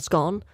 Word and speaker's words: scone: I don't know uh there's two different pronunciations scone and scone uh I'm in the scone um I mean that's how it's spelled side but well I'm from the north so I think in the north we say scone but that sounds more